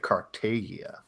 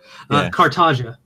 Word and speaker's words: Cartagia: What's the correct pronunciation now that we all threw out the wrong ones? Yeah, now that we all said it. Cartagia. Cartagia. Okay.